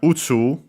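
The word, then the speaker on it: 宇宙: This is one of those accent on the first more, so yeah, the second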